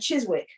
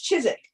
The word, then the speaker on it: Chiswick: when I came here I saw I saw you know there's chizik I would have said Chiswick but everybody's like no it's Chiswick and then you know